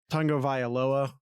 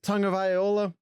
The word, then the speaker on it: Tagovailoa: Now you look at Tagovailoa, which I keep wanting to pronounce like it's an instrument, viola. That's how I keep tripping on it. Vailoa. You're an American English speaker is immediately going to want to go to tag.